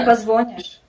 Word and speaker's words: позвонишь: Ты мне позвонишь. Ты мне позвонишь. Правильно? Позвонишь. Да, ударение.